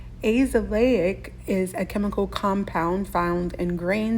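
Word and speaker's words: azelaic: fight against free radicals now this is one myself that I thought was a short vowel sound and it is not so here's how you say this one AIC AIC is a chemical compound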